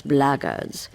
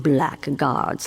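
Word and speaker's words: blackguards: foreign foreign if you're another one of those bloggers and that's the way to pronounce it not black guards like that Thug insisted it was then my answer is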